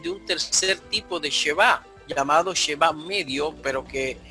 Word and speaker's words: shevá: Por ejemplo, en esto que presenta Moisés Chávez, de lo que me mostraron o me enseñaron es que nosotros pronunciamos Sheba.